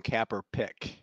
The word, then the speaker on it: Kaepernick: You said his name wrong. It's Colin Kaepernick.